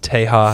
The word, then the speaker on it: Tehaus: with its negative drawbacks nobody in the world knows how to say it it's teja it's just like the spanish word for texas acceptable spelled a little